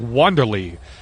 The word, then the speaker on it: Wanderlei: And I was just informed that it's pronounced Wanderlei. So apologies to the Wanderlei family.